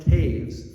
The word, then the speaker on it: Toews: to's tav's menonite upbringing it's pronounced Taves from her low German ancestry and what happened in